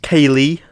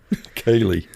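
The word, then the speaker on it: cèilidh: yes uh turns out Kaye which is spelled just as it sounds c e i l a d h Kaye yeah and and that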